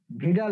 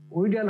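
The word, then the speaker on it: Widal: ভিডাল test ঠিক আছে ভিডাল test উইডাল হওয়ার কথা তাই না উইডাল না হয় এখানে হবে ভিডাল টেস্ট ঠিক আছে খেয়াল থাকবে তো স্যার এক বছর যাবত এই উইডাল টেস্ট উচ্চারণ করে আসতেছি স্যার আচ্ছা এখন দেখি যখন যখন তোমরা ডাক্তার হবা এবং ইয়ে এখন পড়তেছো তার যেন উচ্চারণ তোমরা যেন উইডার যেন না করো ভিটাল টেস্ট বলবা ঠিক আছে কিছু কিছু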